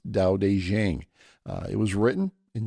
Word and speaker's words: Tao Te Ching: spelled with two T's and aqing is actually pronounced da de Jang uh It Was Written in short concise verses